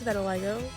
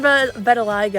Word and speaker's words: vitiligo: I think it's better Lego. Yeah, better Lego. I said vetiliggo, I think, in my original Pinkie Pie one and that just sounded so wrong.